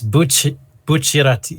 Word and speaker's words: Bucciarati: Like Bucciardi's Oh like the driving factor. no, it's Bucciarati. Bucciarati, or however you pronounce his name.